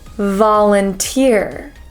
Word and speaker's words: volunteer: with an O the sound is actually an a sound so volunteer va va volunteer VA volunteer I usually volunteer at